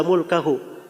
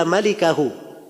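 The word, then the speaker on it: مالكه: Salah baca albukhari itu gak bilang illa mulkahu Dia berkata illa malikahu tulisannya sama mim laf lam Kaf ha tapi cara bacanya yang beda di dia bacanya illa mulkahu ya kalau bacaan yang benarnya illa malikahu kecuali pemilik wajah gak mungkin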